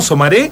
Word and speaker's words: Somaré: Es con acento en la E, ¿no? ¿Somaré? En la E, exactamente. Bueno, es sí.